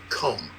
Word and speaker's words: comb: 5% have any idea what the rule is, that B is silent after M, especially at the ends of words.